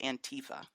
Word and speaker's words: antifa: a nickname I have a contest it's actually pronounced antifa and Tifa yeah that's that's how it even